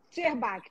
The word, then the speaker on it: Szczerbacki: Será que eu pronunciei seu sobrenome correto, Acho que Zerbach? pronunciou. Na verdade, como ele é emprestado, eu faço um Sherbach.